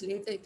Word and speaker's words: LaTeX: So it is because the people who gave this said that X should be pronounced as K, and that puts a full stop, right?